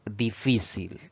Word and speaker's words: difícil: palabra de análisis es difícil esta palabra tiene tres sílabas la mayor fuerza de voz al pronunciarla recae en la penúltima sílaba contando de derecha e